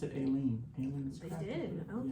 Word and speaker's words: Aleene: legacy in crafting, and they pronounced it Aileen.